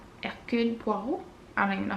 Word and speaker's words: Hercule Poirot: I never know how to say his name, Hercule Poirot, Hercule Poirot.